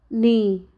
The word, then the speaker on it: knee: letter and its rules letter K is silent before n let's look some examples knee Neo knife not no